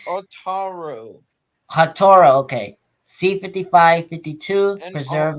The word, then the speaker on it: Otaru: C55-50, preserved at the Otra Museum in Otra. I can't pronounce that word. Is it Hoked or is it Hokida? I don't know. It's Otaru.